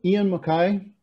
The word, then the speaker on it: Ian MacKaye: there you go excellent i mean uh er ian mckay did i pronounce that right that's correct yeah ian makai